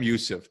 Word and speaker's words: Youssef: joanne moxa and sam how do you say your last name sam because i'm going to watch it sam youssef sam youssef and joanne moxa and